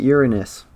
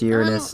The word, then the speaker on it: Uranus: All right, Uranus. It is pronounced Uranus, not Uranus.